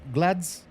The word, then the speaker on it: GLADS: Glass glads. Glads 4. Yeah, that's what that's how we say it.